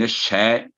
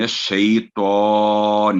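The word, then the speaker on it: الشيطان: تو من الشے، ایک تو من الشے نہیں ہے، من الشی اور تو نہیں ہے، یہاں غنہ نہیں ہوگا. عام طور پہ بعض دفعہ سن میں آتا ہے غنہ غلطی سے. من الشیطان الرجیم، تو یہ ہے اس کا صحیح تلفظ.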